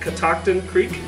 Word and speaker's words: Catoctin Creek: are Catoctin Creek that's how you say it Catoctin Creek it's an Indian name it's the Algonquian tribe